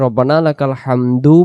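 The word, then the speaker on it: ربنا لك الحمد: করব রব্বানা লাকাল হামদ এখন এই শব্দটা আমরা অনেকেই ভুল করি আমরা পড়ি রব্বানা লাকাল হাম পড়ি শুধু রব্বানা লাকাল হাম রব্বানা লাকাল হাম যদি রব্বানা লাকাল হাম হাম পড়ি তাহলে এখানে এ দাল অক্ষরটা যে দেখা যাইতেছে দাল অক্ষরটা তখন বাদ যাবে।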